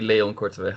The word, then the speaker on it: Korteweg: So what's the right pronunciation? Well, we would say Leon Korteweg, but I don't really mind the pronunciation all that too much.